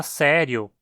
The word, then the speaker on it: sério: Veja a palavra sério, por exemplo. No Brasil, consideramos que essa palavra tem apenas 2 sílabas, sé-rio. O i é tratado como uma semivogal aqui. Em Portugal, por outro lado, a palavra é considerada como tendo 3 sílabas, sé-ri-o.